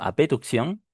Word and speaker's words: abducción: Eh, yo prefiero decirle a b abducción, ¿no? Porque a veces en la pronunciación no se puede se puede escuchar diferente porque justo su contraparte es la aducción.